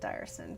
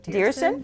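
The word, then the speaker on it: Diersen: Now I also understand that along with Lisa Dearson, or is it Dyerson? Dearson. Dearson. I said it right the first time.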